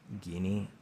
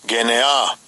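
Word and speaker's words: γενεά: Now the first word is how is that pronounced? Guinea? Strong's G 1074. Genea.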